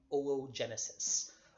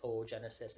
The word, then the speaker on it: oogenesis: with the 2 O's, to put an umlaut, 2 little dots over the second O. That's basically like a pronunciation placeholder that shows you pronounce each O separately. So it's not oocyte or oogenesis, it is OO.